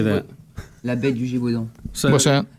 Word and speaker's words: La bête du Gévaudan: La bête du Gévaudan. What's that? La bête du Gévaudan.